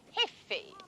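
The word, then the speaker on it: jefe: Franco is called el he the chief g f e the J is silent L hey he is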